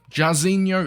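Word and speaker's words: Jairzinho: I'm gonna butcher this name apparently it's jazzinho jasino is how you pronounce it now jarzinho if we're looking at his base and his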